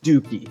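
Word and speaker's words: DOUKI: agree um with young custodian um but let's pronounce the guy's name right it's dookie that's how it's internet so let's make sure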